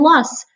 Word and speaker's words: Loess: Loess rhymes with bus, and these were created